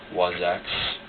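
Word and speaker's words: Wasacz: Wazax. The Z is silent.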